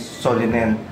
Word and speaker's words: Solingen: Yung Solingen actually, ang pagkaka pronounce niya is Solinen sa German German pronunciation.